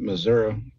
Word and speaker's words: Missouri: actually used to live in Missouri and you pronounce it Missouri because the only other way you can pronounce